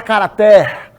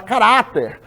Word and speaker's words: caráter: duas palavras aí cuja sílaba tônica é a penúltima ninguém fala cara até ninguém fala cara até a gente fala carater se você quer vender